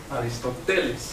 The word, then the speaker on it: Aristotle: the platonic Academy and he is in Greek called Aristotle thank you we have to have the stress on the head on pen ultimate syllable ones Aristotle so you get different